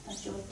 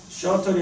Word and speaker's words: shorter: 쇼터. 셔틀이 아니고요.